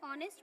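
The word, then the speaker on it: honest: क्योंकि जब हम इसे प्रोनाउंस करते हैं तो साउंड क्या आती है? ऑनेस्ट, ओ। ठीक है, लेकिन क्योंकि ये वॉवल साउंड है इसीलिए हम इसे एलिट्रेशन नहीं मानते।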